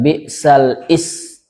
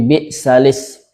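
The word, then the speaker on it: بِئْسَ الِاسْمُ: Jadi ke lamnya balis bukan bisal is tapi balis b'alismul fusuqu ba'dal iman waman lam yatub faulaika humudzalimun.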